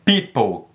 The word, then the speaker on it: people: não pronuncia people ep people people Ok se o não é pronunciado and people relevo e